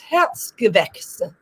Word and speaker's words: Herzgewächse: so I don't have to show the German pronunciation that I'm having trouble with. Yeah, it's Herzgewächse.